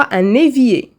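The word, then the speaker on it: un évier: ايفيي مي جاي مع لا ليزون كنطقوها ان ايفيي.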